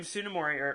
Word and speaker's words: Tsunemori: or like tsunemori yes her name tsunemori with a silent teeth yeah like they were